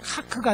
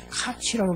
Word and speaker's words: Kac: KAC는 카크가 아니라 카치라고 발음해야 됩니다.